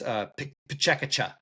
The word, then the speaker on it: PechaKucha: But I believe it's pronounced PechaKucha.